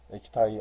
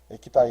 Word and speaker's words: 에키타이: 에키타이 안 지휘. 미국에서 활동할 때는 익태안이잖아요. 익태안. 조선식의 이름의 영문 표현. 이때는 이제 이름이 바뀌어요. 에키타이 안이라고. 에키타이는 익태의 그 일본식 발음이죠. 일본어식.